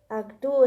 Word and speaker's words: Artaud: Actú, creo que es creo que es el sonido. Ah, sí, algo, actú me parece, actú.